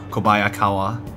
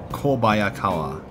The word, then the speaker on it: Kobayakawa: what happened to call kobayakawa kobayakawa yep that's right that's how you pronounce it oh dear oh